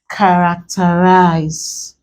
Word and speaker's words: characterize: Normally, we are supposed to stress this here because this is the anti-penultimate syllable, but characterize is stressed on the first syllable. This word is an exception to this generalization. If you want to stress this word, or if you check dictionary, it's actually stressed on the first, not the second syllable, as this rule is telling us.